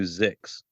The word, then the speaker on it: Zyxx: And when we started considering this topic, the first podcast I thought of was a podcast called Mission to Zix. Yeah. And Zix is spelled ZYXX.